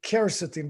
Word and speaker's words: quercetin: time being you take quercetin i pronounce it kercetin because in spanish k is q-u-e but quercetin it you can find